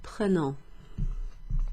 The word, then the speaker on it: prenons: So if there's no accent over that E, the E is pronounced E, okay? Like in je, or like in the word le.